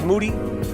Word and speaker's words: Moody: his name is moody yeah the last name it rhymes with duty what's really good mr.